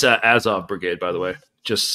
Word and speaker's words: Azov: It's like it's pronounced Azov.